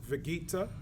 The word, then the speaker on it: Vegeekta: This is who else _22 here with my boy Vegeekta. Is that how you pronounce it?